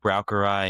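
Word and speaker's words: Braucherei: Pow-ow, browery, and hexuray. I don't know if I'm pronouncing that right.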